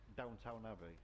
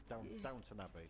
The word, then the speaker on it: Downton Abbey: Is that, am I saying it correctly? Something Abbey? Downtown Abbey. Downton Abbey.